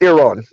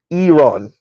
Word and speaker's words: Iran: Oh, and Earth says it's pronounced Iran. Iran.